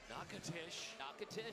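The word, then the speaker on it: Natchitoches: Natish Louisiana.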